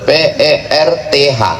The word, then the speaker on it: Perth: Perth, P-E-R-T-H. TH di ujung itu cara bacanya tha, Perth.